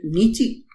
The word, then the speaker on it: Nietzsche: सो एंड सो इफ you talk about, there was another philosopher named नीची. ठीक है, it pronounce it as Nietzsche.